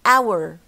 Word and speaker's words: hour: For example, the word hour هي أساسا بنكتب ها H is dropped فما بنطقهاش hour.